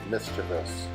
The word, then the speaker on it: mischievous: It's always pronounced mischievous.